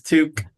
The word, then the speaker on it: toque: No, it's Toque. It's 2K. TOUQUE. Right? In Britain. No. Toque. It is Toque.